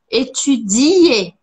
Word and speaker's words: étudier: Finais de palavras, como o verbo que você tanto gosta, que é o verbo étudier, em francês ele tem um i. Étudier, étudier, e não tem s. Esse é um erro muito comum, de brasileiros e pessoas que falam português. De colocar ou de colocar um S e falar estudar, ou de não colocar o I, ou das duas coisas.